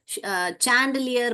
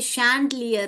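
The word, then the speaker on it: chandelier: देखिए यहां पर भी बहुत लोग उसको सैंडलियर पढ़ते हैं मगर ये क्या है बेटा ये शैंडलियर है जो झूमर बोलते हैं ना हम हिंदी में इसको झूमर झूमर को हम शैंडलियर बोलते हैं।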